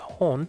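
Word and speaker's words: 本: On its own, it's pronounced hon, but then it changes to bon and pawn depending upon the word that comes before it.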